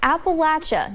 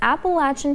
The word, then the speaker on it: Appalachia: And it's pronounced Appalachia, not Appalachia. Lawmakers give the pronunciation lesson